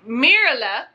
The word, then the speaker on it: Mirla: Now, let's go on to Mirla. Not Merla, but Mirla.